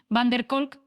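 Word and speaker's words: van der Kolk: Gabor Maté y el drctor Vessel, VanercolK, pronunciado Vessel, Vanercolk, vamos a explorar como nuestras propias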